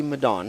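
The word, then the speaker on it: Medan: me to be in Madan did I pronounce right Madan Indonesia or Madan yeah the Malay pronounciation be Madan Malay would be madon yeah and with one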